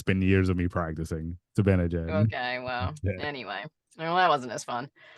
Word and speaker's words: Zibanejad: Mika Zibanejad?